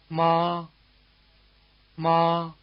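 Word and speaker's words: 妈妈: By the way, the weak 2nd syllable in mama is not in one of the 4 tones. It's said to be toneless or in the neutral tone.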